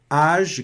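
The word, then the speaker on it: âge: Nesse caso aqui, age, deixa eu também, além de ressaltar que a vogal foi pronunciada normal, como no português, age não se pronuncia o E final, tá certo?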